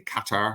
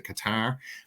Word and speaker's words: Qatar: hear Qatar I've actually finally learned how to say it properly, Qatar as opposed to Qatar, which sounds like that stuff gets stuck in your throat.